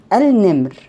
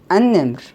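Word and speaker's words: النمر: Here, al-nimr. Sorry, an-nimr. An-nimr here, it's solar lam, lam shamsiya. We write it and don't pronounce it.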